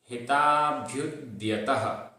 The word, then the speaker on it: हिताभ्युद्यतः: सत्व हिताभ्युद्यतः, सत्व हिताभ्युद्यतः। आधा भ और य में उ की मात्रा, भ्यू। फिर द्यतः, द्य, ये ध्य नहीं है, आधा धा और या नहीं है, ये द्य है, आधा दा और या।